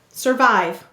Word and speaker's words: survive: Second syllable is vive. V-I-V. Silent finally. How do we mark it? We'll underline the and we'll put a line over the I because I-E-Y said its long I sound.